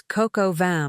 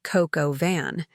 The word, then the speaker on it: coq au vin: "It's coq au vin, Mom, not coq au van," as if I were an ignorant child.